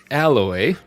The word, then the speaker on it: Aloy: What tribe is Aloy? Aloy. Fucking noob. Part of. Alloy. Hey, no. Hey. I was. I'm mispronouncing things today.